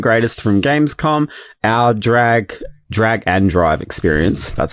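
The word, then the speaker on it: Drag x Drive: the latest and greatest from Gamescom, our drag drag and drive experience, that's how you pronounce it, and our dead take reviews.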